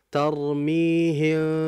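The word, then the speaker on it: ترميهم: Yang furja, tarmihim, jangan terlalu ini juga lebar. Cukup seperti kertas.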